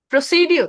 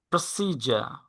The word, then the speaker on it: procedure: প্রসিডিউর। হ্যাঁ, প্রসিডিউর। প্রসিডিউর। প্রসিডিউর। না, এটা রং প্রনাউন্সিয়েশন, এটা হবে প্রসিজার।